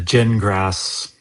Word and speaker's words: Gingras: Uh, the genrass fun. Yeah. Yeah. Yeah. Uh where is that one? God, I got so many pages now. It's pronounced gin like you drink and grass like you mow.